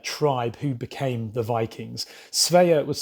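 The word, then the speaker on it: Svea: called the sveya tribe who became the vikings sveya was spelled s-v-e-a and they actually of course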